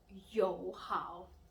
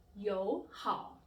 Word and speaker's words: 友好: So instead of saying 永远, please pronounce as 永远. Instead 友好, please pronounce as 友好.